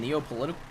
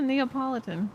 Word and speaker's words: Neapolitan: you say it again neo-political politics i don't know political i don't know what is it it's a neapolitan neopolitan neopolitan yeah i'm more